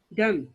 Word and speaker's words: dumb: Number 2, dumb means she cannot speak. D-U-M-B. Dumb. B is silent here.